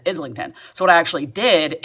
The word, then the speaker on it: Islington: the only problem is she pronounced isington as um isington and he pronounced it as Islington so what I actually